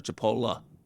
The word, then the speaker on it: Chipola: you say it maybe the college was called Chipotle Chipotle uh or I'm sorry Chipola I'm thinking of the Mexican food but so long story